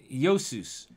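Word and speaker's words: Iesous: is the english version of a greek name josus and we spell that as i e s o u s uh yosus and so what you have there is uh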